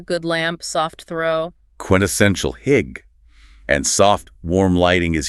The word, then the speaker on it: hygge: The sources talked about that Danish concept, hygge. Hygge. Pronounced hygge.